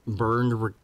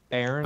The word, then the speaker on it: Baron: And there's the burned request line, which is Burned awesome. request line. How do you pronounce his name correctly? Because I'm so bad at it. Baron.